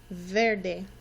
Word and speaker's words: verde: First one we have is verde. Can you say that with me? Verde. Verde. You might notice that the E actually sounds like an A.